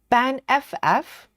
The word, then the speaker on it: Banff: Ban FF or Banff. It's such a weird word. You can't pronounce it. Right. So Amanda says just put the double F sound on the end of the word ban.